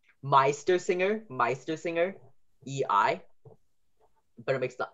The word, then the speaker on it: Meistersinger: So the I sound, like Meistersinger, is EI.